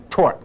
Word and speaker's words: torque: rise to a what begin with a t rhyme with dork try it torque that's right so torqus